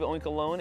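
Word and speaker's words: Oinkologne: into oink oink alone I believe oink alone is the as a pronunciation there but we have 12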